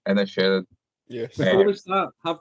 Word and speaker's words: Inisherin: I just wanted someone else to say it because pronouncing it was difficult for me. The Banshees of Inisherin. Is that right? Inisherin.